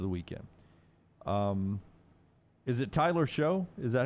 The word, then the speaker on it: Shough: Is it Tyler Shough? Is that how you say it? Shuck.